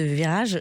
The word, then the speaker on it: Vyraje: un podcast qui s'appelle Virage. Alors ça s'écrit différemment de ce qu'on pourra en croire. Ça s'écrit V-Y-R-A-J-E et c'est sur YouTube